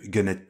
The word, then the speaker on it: Gunhead: ou faut le prononcer à la française peut-être. Non, Gunhead TV, c'est très très bien.